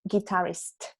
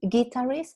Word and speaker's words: guitarist: Y la pronunciación de guitarist. No es guitarist, es guitarist. Es como guitar, ¿te fijas?